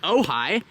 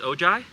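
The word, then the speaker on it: Ojai: are out here in ohigh and I'm going to let Eddie Drive the 600 LT it's not pronounced oji no I've been saying it wrong this whole time crap you've driven a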